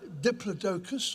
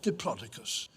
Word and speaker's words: Diplodocus: There are two ways of pronouncing its scientific name. It's either Diplodocus or Diplodocus.